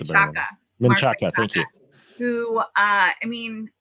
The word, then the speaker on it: Menchaca: Sorry, I'm going to get Mark Menkachak. I don't know how to pronounce that. You probably pronounce it better. Menchaca, thank you.